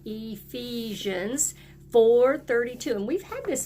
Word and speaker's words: Ephesians: it is found in Ephesians that makes a long e sound Ephesians 4:32 and we've had